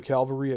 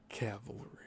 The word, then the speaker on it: cavalry: Town Fire Brigade, a comic, Landing of the Calvary at Cuba, cavalry. That That's a tough word. People mispronounce it all the time.